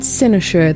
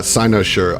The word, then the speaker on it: Cynosure: It's lovely to have you here at Senoshure. That's how I say it. How do you say it, Adam? I say it wrong because I'm an evil genius. How do you say it? Uh, Sinoure. I like how you said it better.